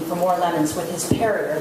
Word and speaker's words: Perrier: If it wasn't for him asking for more lemons with his Perrier that rhymes with terrier, we'd still be backstage watching INXS.